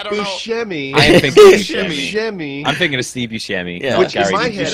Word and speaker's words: Buscemi: It's Buscemi. Oh, is it Buscemi? Yeah, I can't. You're thinking of Buscemi. I am thinking of Buscemi. I'm thinking of Steve Buscemi.